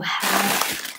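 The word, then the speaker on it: 蝦: don't know if they have it in in north of china but because i'm from the south and i'm cantonese so shrimps in cantonese pronounce ha and we think about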